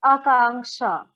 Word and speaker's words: Akanksha: How do you say your name, please? It's Akanksha. Akanksha, okay.